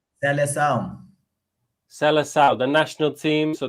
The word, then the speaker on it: Seleção: How do you say that? Seleção? Seleção.